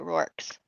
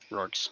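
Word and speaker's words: Reorx: According to this Dragonlance pronunciation archive, it's pronounced like roar, R-O-A-R, with a K-S at the end, so Rorks. Rorks.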